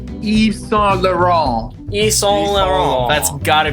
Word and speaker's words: Yves Saint Laurent: So how is it actually pronounced? Yves Saint Laurent.